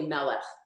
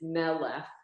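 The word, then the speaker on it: מלך: So it's melech. It's not really melech. It's melech is the correct pronunciation because then you're putting the emphasis on the right syllable when you do it that way.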